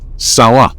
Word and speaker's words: San Juan: Their influence became so strong that the local pronunciation of San Juan evolved into the distinctive Seh War, a pronunciation that persisted for generations.